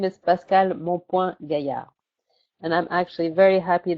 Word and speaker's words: Pascale Mompoint-Gaillard: My name is Pascale Mompoint-Gaillard.